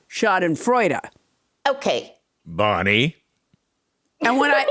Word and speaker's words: Schadenfreude: ends in h and it doesn't end in h it ends in the letter e it's pronounced shot in freuda okay bonnie and when